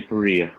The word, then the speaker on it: Perea: Yes, Perea.